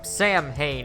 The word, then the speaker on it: Samhain: Though speaking of Part 2, that's where the supernatural really started to enter the series, with the Curse of Samhain, or Samhain as the movie pronounces it, which apparently drives Michael to kill his family.